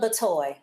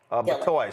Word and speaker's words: Batoy: Is it Batoy or Bitoy? Just pronounce that for us. Batoy. Batoy.